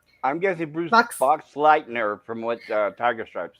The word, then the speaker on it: Boxleitner: I'm guessing Bruce Boxleitner, from what Tiger Stripe said.